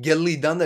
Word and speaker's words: Gillidanda: is he's laughing again gelli danda is more correct oh he he's telling me about the pronunciation of gilidanda you have to emphasize on two else then it would be perfect there and he says